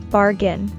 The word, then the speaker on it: bargain: We stress the first syllable in bargain. Bargain.